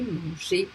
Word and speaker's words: manger: or with a R, ER will be pronounced E, unless some exception like super, words like that. Otherwise, it will be a E, just like for all the infinitive of verbs that ends by ER, you pronounce them E. You don't pronounce them ER. C'est pas ou R, c'est pas manger ou parler, écouter. It's écouter, manger, parler.